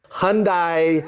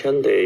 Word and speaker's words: Hyundai: Hyundai pronunciation.